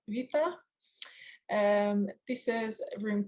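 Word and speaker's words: Βήτα: So the B in Greek is pronounced V. If anyone wants a Greek lesson, so it's not beta, it's a Vita.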